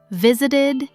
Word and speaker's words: visited: And if a verb already ends in a T or a D, like visit, we add an extra syllable.